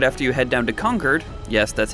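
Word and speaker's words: Concord: miss but right after you head down to conquered yes that's how it's pronounced don't hassle me and help out Preston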